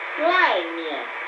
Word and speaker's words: 外面: 外面. The fourth tone and the light tone means outside.